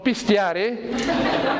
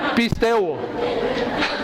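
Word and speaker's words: πιστεύω: La palabra creer, que dice aquí Pablo, es una palabra que se escribe pisteu, no pistear, pisteu. Porque pistear es como tomar aquí, vamos a pistear, es pisteu.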